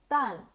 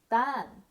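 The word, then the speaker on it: 蛋: to say it in Chinese firstly egg is pronounced as done in Chinese which is written as repeat after me done great job now what do we call tomatoes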